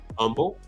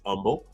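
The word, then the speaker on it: Humble: Houston which is called Umble I know there's an H there but it's h is silent it's Umble um and then they're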